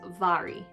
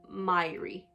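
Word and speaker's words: Mhairi: on her bio that her name is pronounced vary not myri and this book is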